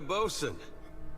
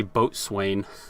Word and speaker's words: boatswain: Well, now we got a bosun. Just need a boat. I always used to say boatswain. I don't... Like bosun, it's spelled differently in Borderlands. I didn't know that's how you pronounced it.